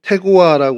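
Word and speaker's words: תְּקוֹעַ: 저희들이 본문으로 읽었습니다 어 드고아 히브리어로 태고와 이제 발음을 하는 단어인데요 천막을 치다 뜻을 가지고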